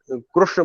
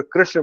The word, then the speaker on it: कृष्ण: जो महाराष्ट्र में कृष्ण और उत्तर भारत में कृष्ण, दोनों ही गलत है। न तो उसमें उकार का ऊ का आभास आना चाहिए, और न ही ई का।